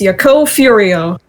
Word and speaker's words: Yakou Furio: yaku furo case I think I read his name wrong is it furio a Furrow furry it's cereal it's it's yako furio Okay so um tell us about well I'm